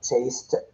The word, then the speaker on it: chased: The dog chased the cat. The dog chased the cat is in the past because chased, ed, but pronunciation is t.